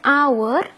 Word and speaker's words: hour: Walaupun dia depannya H, tapi kita bacanya our.